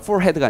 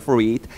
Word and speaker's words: forehead: 이때 H는 묵음이다. 알겠지? 가끔 옛날 문제 좋아하시는 선생님들 중에서는 이런 거 물어보시기도 하니까 알아두시고요. 자, 이마에서, forehead가 아니라 forehead, 이마에서 떨어졌다, fell up.